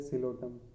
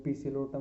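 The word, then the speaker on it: Psilotum: इसके बाद में अगले पी से है सिलोटम। अब इसके लिए बोल रहे हैं पी सिलोटम नहीं बोलेंगे, पी साइलेंट है इसमें भी।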